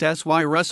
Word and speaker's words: Sirius: Focusing on the famous cosmonaut Sirius Amory, pronounced Syrus Amory, the story describes Amory's